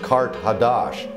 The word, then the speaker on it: Kart Hadash: Carthage, in the ancient language, is pronounced Kart Hadash, and that means new city.